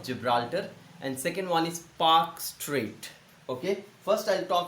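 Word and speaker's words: Palk: P-A-L-K, Park, not P-A-K, Park. Okay, L is silent there.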